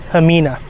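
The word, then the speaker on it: Ximena: by the way I asked Rose how you pronounce it it's hamina I am now in South Hill Virginia I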